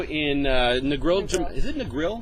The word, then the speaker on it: Negril: Is it Negril? Negril. Negril, Jamaica. I always wonder if I pronounced that wrong or not. I don't know. You pronounce it the American way. I'm sure it's pronounced differently in Jamaica.